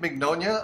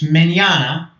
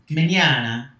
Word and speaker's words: Mignogna: thanks for having me it's manana pronunciation of my last name is italian italiano me Anna okay so let's talk